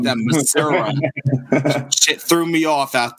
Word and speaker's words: Missouri: God bless your parents for driving that drive, because I used to live out in Missouri.